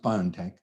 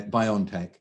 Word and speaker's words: BioNTech: uh bio and tech or bio it's it's pronounced biontech uh by ontech in uh europe these teams had been working